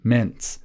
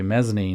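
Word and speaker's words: mesne: sub lease is the mints in this case. Mesny actually me not mints.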